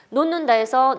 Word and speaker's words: 놓는다: 히읗 뒤에 니은이 결합되는 경우에는 어떻게 발음하냐? 히읗 다음에 니은이 왔을 경우에는 니은으로 발음을 합니다.